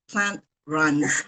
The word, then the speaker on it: Plantrunz: Why the name Plant Runs? Did I pronounce it right?